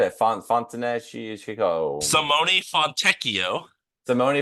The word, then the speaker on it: Fontecchio: the Jazz traded Simone Fontinocchio. Fonteneco. Jared is so mad because he knows how to say this name perfectly already. I said it. Fontenecchio. Simone Fontecchio. Simone Fontecchio.